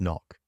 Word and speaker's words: NOC: You're offered something entirely different, non-official cover, NOC, pronounced knock.